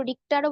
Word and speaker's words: Richter: Ma'am এই উচ্চারণটা রেক্টার scale হবে না রিক্টার স্কেল? রিক্টার, রিক্টার আমরা বাংলায় বলি রিখ, রয়সী খ, কে এইচ আছে তো, RICHTER, তো রিক্টারও বলতে পারো, রিক্টারও বলতে পারো আপন